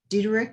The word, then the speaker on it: Dieterich: And Andy Dieterich, is that your name? Did I pronounce that right? You do that on the first try. Nobody gets that right.